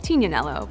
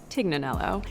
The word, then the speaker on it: Tignanello: the name the tig comes from a wine called Tignanello but oftentimes it's mispronounced Tignanello in addition to her